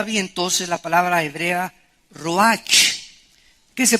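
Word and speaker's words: רוח: es la palabra hebrea Roach que se pronuncia ro La ch en el hebreo se pronuncia como j y que es la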